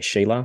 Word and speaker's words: Sheila: In the very beginning, you have, I kissed my wife, and I want to make sure I'm pronouncing the name right. Shayla, is that correct? Yeah, Sheila, yeah.